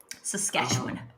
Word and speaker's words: Saskatchewan: Saskatoon is the state capital of Saskatchewan, isn't it? Saskatchewan.